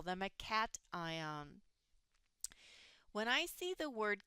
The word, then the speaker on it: cation: Cation is the proper way to say that vocabulary word.